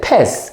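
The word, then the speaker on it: pez: column p e z PES P the Z must always a pronounce like s you say PES so is it lapes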